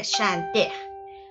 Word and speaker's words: chante: Bueno, no se pronuncia la E porque acuérdense que en francés solo se pronuncia la E si tiene tilde.